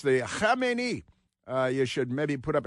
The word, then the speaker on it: Khamenei: They're radical Islamic terrorists, and that from the biggest leader in the country, the Ayatollah Khamenei. Pardon me, you get any on you? Anytime you pronounce the Khamenei, you should maybe put up a shield of